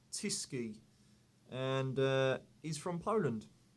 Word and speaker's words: Tyskie: you guys have chosen is this it is pronounced tisy and uh is from Poland I first had